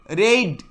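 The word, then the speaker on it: raid: Pain, রেড, আর এ আই ডি, রেড, পি এ আই ডি, পেড।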